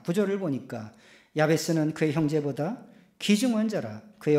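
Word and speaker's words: יַעְבֵּץ: 여러분, 야베스를 히브리 말로 발음을 하면 야흐베츠예요. 야흐베츠.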